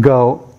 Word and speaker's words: 狗: This is pronounced go.